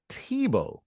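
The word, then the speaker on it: Thibault: former former uh Washington Mystics head coach Mike Tebow Shane I did I didn't know it was pronounced like that I honestly didn't um so Mike Mike Tebow stepped down and he's being replaced by his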